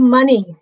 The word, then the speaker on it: Mony: what my friend Mony is all about. And did I pronounce that right? It's Money. It's just like the money you get from me.